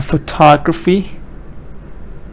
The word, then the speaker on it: photography: Photography. Da da da da. Photography. Yeah, four syllables.